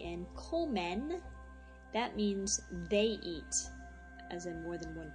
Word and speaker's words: y: comen, that means they eat, as in more than one person. So if I say donde comen, where do they eat? Donde comen, Peter, E, pronounced E, it's actually letter Y, E means and.